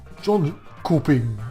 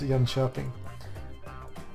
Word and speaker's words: Jönköping: And sorry about my Swedish pronunciations, but I'm not going to say Jönköping or something like that. It's Jönköping and Malmö.